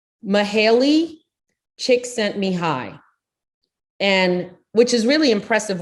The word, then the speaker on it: Mihaly Csikszentmihalyi: His name, which if you try to read that without, the phonetic pronunciation underneath it, it's pronounced Mihaly Csikszentmihalyi, and which is really impressive when you don't have that showing.